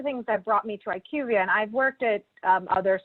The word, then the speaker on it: IQVIA: It's IQVIA.